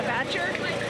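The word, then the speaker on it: Batture: So I ordered the Batcher Blonde.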